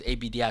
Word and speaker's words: Abdi: tryouts I'll never forget so my last name is spelled so it's Abdi so usually alphabetically I'm gonna be the first